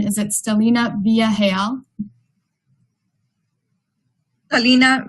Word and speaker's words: Stelina: And then before I move on, I would just want to double check on pronunciation. Is it Stelina Villarreal? Stelina Villarreal.